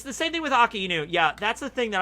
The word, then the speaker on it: Akainu: So Aka means red, Inu means dog. Okay, so Aka, Inu... But then also people do AKAI, so they do that as the first syllable, and then nu as the second. So Akai Nu. Sometimes they say it that way.